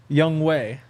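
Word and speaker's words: Younghoe: hu maybe yeah oh how'd you say it young way oh that's how you're actually saying it oh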